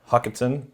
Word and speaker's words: Hochatown: How would you pronounce that town? It's north of Broken. Hochatown. Hochatown.